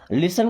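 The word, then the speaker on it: listen: You should लिसन, लिसन का मतलब सुनना, यहाँ पे टी साइलेंट है, लिस्टन नहीं, लिसन, है ना।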